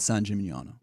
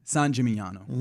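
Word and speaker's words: San Gimignano: Uh Rome, Florence, and a town in the countryside of Tuskanyany called Sanjimano. Hey, you pronounced that pretty well. How you Well, you know, I like trying to pronounce it again. Sanjimaniano.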